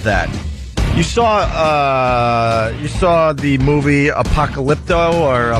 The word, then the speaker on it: Apocalypto: You saw the movie Apocalypto or how do you say that dumb name? That's it. You got Apocalypto.